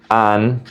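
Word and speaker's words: han: formal, hemos for we, and for they or you guys, you plural. Remember that the letter H is silent, so the pronunciation is going to be e, as, a, hemos, an.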